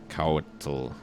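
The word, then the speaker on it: Couatl: you with uh monster manuals this is a couture for those of you who don't know how to pronounce this it's a c-o-u-a-t-l and it says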